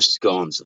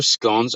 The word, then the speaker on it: scone: What are their scones? Their scones are, well, you Americans say scones. It's not how you say it, by the way. It's not scone. It's a scone.